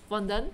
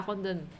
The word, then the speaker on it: fondant: In the French language, you only pronounce the word till the last vowel, but the end alters the sound of the last A. Fondant, without the T, right? I think so. I think it's fondant.